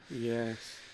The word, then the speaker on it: YI: these camera is called ye y I don't know if I'm saying it right we called them ye but it's spelled y i i i maybe they were